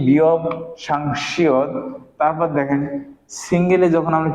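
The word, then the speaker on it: 쌍시옷: আর যখন আমরা কি লিখবো, যে সাংশিয়ত লিখবো, মানে দুইটা শিয়ত লিখবো, সাংসিয়ত লিখবো, তখন এর উচ্চারণ হবে কার মতো? তালবের, তালবের স।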